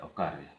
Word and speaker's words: ओकारे: ओकारे ओकारे ओकारे ओकारे, ये जो है इसका उच्चारण होगा ओकारे, ओ को आ रो ए ओकारे ओकारे ओकारे ओकारे ये कहाँ पे, ओकारे मतलब बुझाता है संताली में।